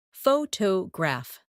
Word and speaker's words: photograph: For example, photograph, photographer, and photographic. The stress moves, and that changes the sound.